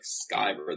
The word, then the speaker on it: Sciver: they're afraid to make that C hard, like Sciver. They go Sciver, and Sciver. So, hello. Yeah, well, I mean, that's, I think it's the Anglo-Saxon in me that wants it to be a soft C.